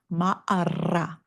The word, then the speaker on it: Ma'ara: So it's hard to pronounce it because there's like rolling R. Ma'ara.